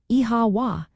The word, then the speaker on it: Oíche Mhaith: Well, if you hear the phrase Oíche Mhaith, pronounced like Iha wa, it simply means good night in the Irish language, also known as Gaeilge.